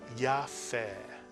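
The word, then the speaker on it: יפה: 2 vowels, 2 syllables. Yafeh.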